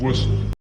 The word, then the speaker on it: whistle: في الكلمات دي ما نطقناش اصلا حرف التي، كأنه مش موجود، تجاهلناه تماما. Fasten your seatbelts. Fasten your seatbelts. The castle. The castle. Whistle.